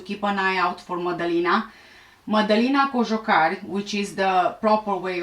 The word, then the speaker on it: Madalina: for everyone to keep an eye out for modeling which is the proper way of pronouncing the name was last seen at home